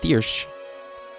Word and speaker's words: Thirsk: Thirsk is pronounced as Thirsch.